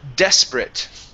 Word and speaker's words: desperate: Uh, next, uh, we have, uh, desperate right here. Desperate. Desperate. Okay, good. Yeah. So, the a te at the end, that's actually a short i and a t sound.